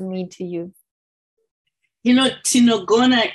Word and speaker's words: Tinogona: it just, for me, you have this word, tinongo. I don't know if I pronounce it correctly. No, tinogona.